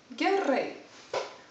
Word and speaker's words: gerai: then you would reply gerai we have a rolling r in lithuanian which doesn't ex in